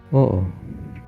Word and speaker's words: oo: And a glottal stop, like in the word for yes. Oo.